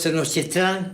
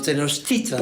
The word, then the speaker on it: Tenochtitlan: En náhuatl todas las palabras son graves, es decir, las graves son las que llevan el acento en la penúltima. Por eso sí. no es Tenochtitlán, sino Tenochtitlan.